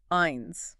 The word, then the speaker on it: ein: Then we have one ein. Also pretty straightforward. Sounds like the English word I with an NS at the end.